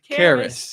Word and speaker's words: Karas: how do you say your last name again Caris Caris I pay attention I do I don't want